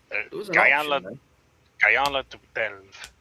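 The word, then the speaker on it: Gyala Delve: Guyala de Belve. I think that's how you pronounce it. Yeah, it's like Giala. And then Delve is just like an English word.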